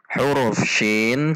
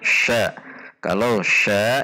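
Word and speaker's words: شين: When the letter SYIN has no vows, then it is read as syin not sya, if it is sya then it already has harokat.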